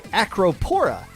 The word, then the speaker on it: Acropora: by yeah and Lantern bracket Was Won by acropora which I know I pronounced correctly because the members of acropora like